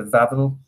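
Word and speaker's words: Wawel: the fabulous uh castle the vavil yes pronouncing it properly yeah and um so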